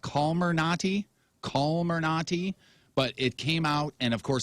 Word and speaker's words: Comirnaty: The vaccine has been known as the Pfizer vaccine and will now be marketed as Comirnaty.